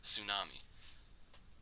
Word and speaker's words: tsunami: Tsunami. So, again, why is that there? Basically, that's the only problem with it in our spelling. So, that actually comes from Japanese, the tsu sound, tsu, something like that.